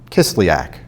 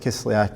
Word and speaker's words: Kislyak: There was a big deal about what the Russia ambassador Kislyak, I think that's how it's pronounced.